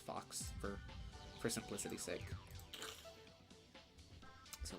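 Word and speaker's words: Faux: right is that yes it is pronounced Fox f-o-x but it is spelled f-a-u-x like foe like something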